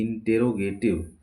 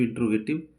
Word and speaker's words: interrogative: टी आईवी ई इंटेरोगेटिव बहुत से लोग इसको जल्दी बाजी में पढ़ते इंटेरोगेटिव इंट गट बोलते हैं लेकिन रंग है व क्योंकि इसका स्पेलिंग देखिए आई एन टी E double R ओ तो ये रो है आई एन टी ई